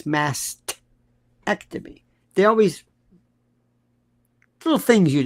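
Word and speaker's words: mastectomy: Do you ever hear massctomy? It's mastctomy.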